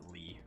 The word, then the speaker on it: Lea: It's spelled like that, but they pronounce it Lee.